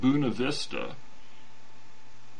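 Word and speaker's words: Buena Vista: Fairplay yeah and in Buenavista which they pronounced buna vista which really rankles me but and then looking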